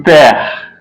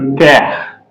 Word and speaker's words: père: It's pronounced as hair, A-I-R, hair in English. It's pronounced as hair in English. So, e.g., le père, the father, the father, le père, the father.